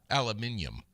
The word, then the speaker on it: aluminium: Aluminum free, charcoal. Aluminium. They say that. That's what the British say.